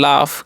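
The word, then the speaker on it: laugh: तो यहाँ पर भी एक उच्चारण आ होगा। तो इसे हम क्या पढ़ते हैं, इसे हम पढ़ते हैं लाफ, क्या पढ़ते हैं, लाफ।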